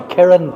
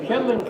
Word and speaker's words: Kirin: We won the Kirin Cup out in Tokyo with Middlesbrough, but nobody. The Kirin Cup. Kirling Cup.